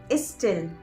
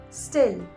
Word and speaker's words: still: So they would say is student, is still, is style, and that's not a correct pronunciation. You should rather say student, still, style.